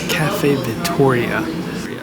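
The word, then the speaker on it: Caffè Vittoria: Cafe Victoria. That's how you pronounce this place.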